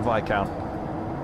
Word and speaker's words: Viscount: Um uh isn't it pronounced like Viccount or the Viscount? Sorry, I said did I say Viscount? Yeah, it is the the VI count.